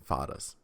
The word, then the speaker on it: Pattas: So it's pronounced Pattas, not Pattas. Pattas.